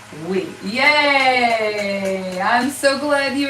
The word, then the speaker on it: oui: teach you a French word all right it's o u i o u i all right that's how you spell it oui okay oui is pronounced wheat it is not oi it's we yay I'm so glad you remembered it Denise